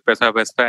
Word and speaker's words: Paisa Vaisa: Yes, you got the pronunciation absolutely right. It is Paisa Vaisa and you got that right.